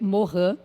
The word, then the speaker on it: Morin: Morin que escreve é se lê Moran mas se escreve Morim E aí o Edgar